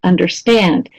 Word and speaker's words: understand: box, so da-da-da, again, you notice how those are both verbs: understand, introduce, reinvent, okay? So not always, but often verbs are stressed more on the last syllable.